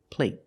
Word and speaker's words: plate: good little boys and when you have a tea at the end a stop T it makes a vow shorter let's compare these two words play there's no stop T the vowel is longer play there's no stop T so the vowel is longer here play compared with plate plate the stop T makes a vowel shorter they're the same vow